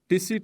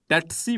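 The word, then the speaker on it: tsetse: इसका नाम है इन अ फ्लाई कॉल्ड टिसी फ्लाई और टेट्सी फ्लाई। मुख्तलिफ तरह की प्रोनाउंसिएशन है इसकी। ठीक है, टेट्सी फ्लाई और टिसी फ्लाई इसको कहा जाता है, या फिर सेट सी फ्लाई कहा जाता है इसको, सेट सी फ्लाई। ये डिफरेंट प्रोनाउंसिएशन हैं, आपको जो अच्छी लगे आप प्रोनाउंस कर लीजिएगा।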